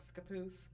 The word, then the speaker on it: Scappoose: It's one of our newest buildings up in, I might say this wrong, Scappoose. Yeah, Scappoose.